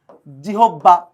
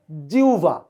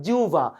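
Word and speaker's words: জিহ্বা: জিবা এইযে দেখেন শব্দ লেখি আপনারা গণহারে এটারে উচ্চারণ করেন জিহবা আমি একটু আকার ডাবল দিয়ে ফেললাম স্যার কেউ বলে জিহবা কেউ বলে স্যার জিবলা কেউ বলে একেকজনকে কথা বলেন স্যার ক্লিয়ার কিন্তু আদতে এটার উচ্চারণ কিন্তু জিউবা নট জিববা নট জিবলা যারা এইচএসসিতে পড়াশোনা করেন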